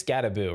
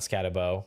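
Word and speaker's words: Skattebo: And I believe it is Scattaboo, right? Not Scatabo, because I was definitely saying it wrong all offseason, but trying to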